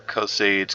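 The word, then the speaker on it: Caius Cosades: And I don't know if that's how you really pronounce it. I hear Cosades, Cosades. Could be Cosades, for all I know. But I like to say Caius Cosares.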